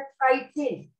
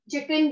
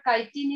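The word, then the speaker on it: chitin: For example एक example आ जाती है बेटा काइटिन. आप शायद चिकन भी कुछ लोग बोलते हैं बट काइटिन is correct pronunciation.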